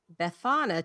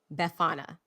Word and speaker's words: Befana: Befana. I think I'm pronouncing that right. It's a it's Befana. Befania, maybe. It's Italian. Have either of you heard of this person? No. Good. So, there's a pronunciation guide, but I don't know how to read the Bethany. I don't know how to read the phonetic alphabet. So I'm going to call her Befana.